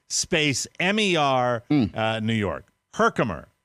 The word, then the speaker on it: Herkimer: m-e-r uh new york herkimer herkimer or her calmer but i mean it's herkimer and uh on sunday